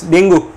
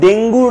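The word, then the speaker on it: dengue: সো এই ডেঙ্গু যে ভাইরাসটা আছে, ডেঙ্গু না উচ্চারণটা আসলে ডেঙ্গি ভাইরাস বলি আমরা, তো ডেঙ্গি ভাইরাসের জন্য আমাদের যে রিসেপ্টরটা, সেই রিসেপ্টরটা আমাদের প্লেটিলেট বা অনুচক্রিকার মধ্যে আছে।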